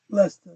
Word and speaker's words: Leicester: Leicester is the way you pronounce it, in the UK.